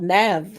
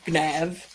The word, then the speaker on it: Gnav: It's a game called Nav, or Gnav, if you pronounce the G.